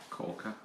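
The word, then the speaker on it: Kawka: I think So I'll get John to pronounce it because he's much better than me. It's K-A-W-K-A. So K-A-W-K-A. Corker. And then Nesma Saeed Khan.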